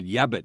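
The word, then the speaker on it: yabbut: yeah but yeah but and I hear that word yabbit so much that it turns into a word and I spell it y-a-b-b-u-t yeah but it reminds me of Bugs Bunny wabbit wabbit it's an excuse you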